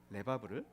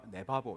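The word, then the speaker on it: לבב: 잘못 발음하면 네바보 이렇게 됩니다. 레바브입니다.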